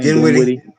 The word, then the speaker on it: Dinwiddie: How do you pronounce his name? Dinwiddie.